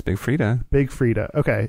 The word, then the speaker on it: Freedia: stars like brig Big Freedia and messy Maya Frida Frida she's for Julia and Freda silent I think it's Big Freedia Big Freedia okay it's spelled F REE dia okay the silent eye